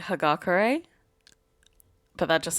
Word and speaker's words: Hagakure: her name annoys you i've just always said hugga curry even though i watched the show again recently and they say hagakure but that just sounds